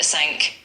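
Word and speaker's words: cinq: cat qu u a c r e five sank c s iix seven s p 8 u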